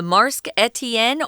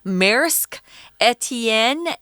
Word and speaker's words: Maersk Etienne: often call boats that this one's called the marsk etienne or uh tom had a better pronunciation for this one he said maersk etienne uh this is french etienne actually means steven in french okay maersk or